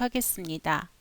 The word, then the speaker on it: 하겠습니다: 발음은 디귿 종송 뒤에 시옷 소리가 된 소리로 발음되는 것을 연습해 보도록 하겠습니다. 열심히 하겠습니다. get 받침은 쌍시옷이지만 대표 받침 디귿으로 소리나서 뒤에 오는 시옷이 쌍시옷으로 발음됩니다.